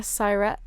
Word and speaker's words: Siret: Siret. Yeah. Siret rhymes with pirate. Oh, Siret. Yeah. Like pirate.